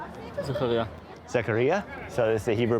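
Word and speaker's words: זכריה: Zakaria.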